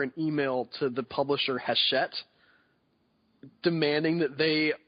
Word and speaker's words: Hachette: And I full disclosure, I thought it was Hatchet the whole time. Okay, well, whatever. It's Hachette. I mean, I've heard other people pronounce it. I know that it's with a soft CH.